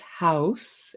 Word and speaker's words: Haus: In German, it's Haus, H-A-U.